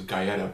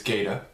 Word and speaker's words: Gaida: pronounce it wrong because i thought it was guyetta but it's gaida um and his girlfriend